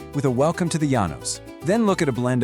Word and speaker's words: Llanos: Stretching across central and western Venezuela and reaching way out into eastern Colombia, you'll find these vast tropical plains known as the Llanos, pronounced Yah Nos.